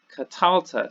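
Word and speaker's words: קָטַלְתָּ: masculine singular you get cut Alta cut Alta so here the accent is actually in this center syllable here and also notice how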